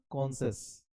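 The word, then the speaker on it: conscious: हैं पढ़ते हैं क्या कॉशस इसमें एन का साउंड नहीं आएगा ऊपर वाला में एन का साउंड यहां आएगा कॉन सेंस एन का साउंड आएगा इसमें नहीं आएगा तो कॉनस हर आदमी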